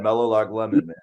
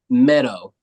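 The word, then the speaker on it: Meadowlark: say it over and over in my head Melo lemon like was what how are you pronouncing his name let me just make sure you're saying it right Lark no Mello Lark lemon meadow meadow meadow yeah all right see that Carter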